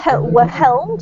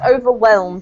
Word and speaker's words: overwhelmed: overwhelm um so there the H is silent in this word Julian so it's not over overhelmed it's just overwhelmed imagine there's no h